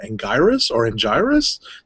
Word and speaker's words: Anguirus: was centered on I want to get the pronunciation right, Anguirus, the ankylosaur.